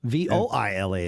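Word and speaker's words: voilà: from a viola yeah v-i-o-l-a is viola v-o-i-l-a is voila uh did that work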